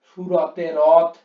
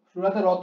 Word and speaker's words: সুরতে রত: পরে কোশ্চেন, কেহ বা সুরতে রথ কেহ সিধু পানে। কেহ বা সুরতে রথ, কেহ বা সুরতে রথ, সুরতে রত উচ্চারণটা হবে।